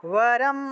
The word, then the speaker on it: वरम्: सप्तशतीं समाराध्य सप्तशतीं समाराध्य वरम् आप्नोति दुर्लभम् परमाप्नोति दुर्लभम् वरम आपनोति ठीक আছে वरम आपनोति दुर्लभम वरम् आप्नोति दुर्लभम् হ্যাঁ উচ্চারণ করতেছেন তো এটা বর্গীয় ব নয় কিন্তু वरम आपनोति दुर्लभम হ্যাঁ